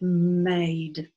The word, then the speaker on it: made: If I took that E away, that word would be mad. Mad, right? But with that E, we now pronounce it made. That's what E does.